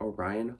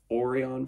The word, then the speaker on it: Orion: get me wrong but Orion Hong I still feel so bad that I mispronounced his name as oron for so long but Chloe Kong thank